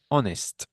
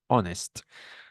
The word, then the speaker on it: honest: No, honest. Remember, there are some rules, some pronunciation rules in English, but there are exceptions. No, there are exceptions. And here, this is an exception. This H is not pronounced.